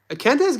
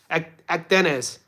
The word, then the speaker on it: Akdenez: A Kendez got a nice little game to him, by the way, More. Have you watched his tape? Akdenez. I thought it was a Kendez.